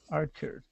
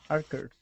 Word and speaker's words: archers: let's go to the the word archers you were correct the first time okay um yeah follow